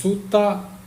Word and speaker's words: sutta: Karma Nana and Dharma in Pali they are pronounced a little bit different because P laes the letter R uh so Sutra is sutta karma is K Nirvana is Nana and Dharma